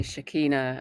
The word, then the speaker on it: Shechinah: butcher your last name so did I pronounce it okay yeah you did I'm not um I'm quite open with it um people say Shekinah as well and it's whatever people say it's fine so tell us there's